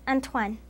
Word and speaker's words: Antoine: In Spanish, it is pronounced Antonio. In Italian, it is Antonio. In French, it is Antoine.